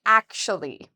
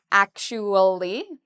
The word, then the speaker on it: actually: And now if we add the last part we can say actually. Some people say it in four syllables. Actually. Actually. Other people say it in three syllables.